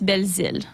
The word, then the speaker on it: Belzile: back home yeah so back home they'll call me belil so it's really like